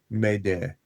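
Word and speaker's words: m'aidez: So, it's from a French word which is m apostrophe a i d ez which is pronounced like med and it means help me.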